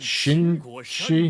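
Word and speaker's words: Qin Shi: is it is it Shin she no Q is not pronounced as a q though I can never remember with Chinese the letters don't mean what you think they mean all right he's attacking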